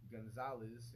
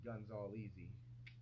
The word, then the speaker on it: Gonzalez: And, you know, me being the oldest rebellious teenager in history, I changed the pronunciation to my name. Instead of, instead of Gonzalez, it's Guns All Easy.